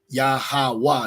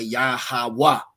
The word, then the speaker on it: Yahweh: See, Lord Yahweh, no V's. Okay. Yahweh. This is Assyrian. So in Paleo, it'd be pronounced Yahweh.